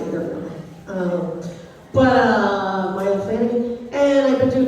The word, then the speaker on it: Maile: I'm Miley, pronounced like Cyrus, not a redneck. She's not either really. Maile Flanagan.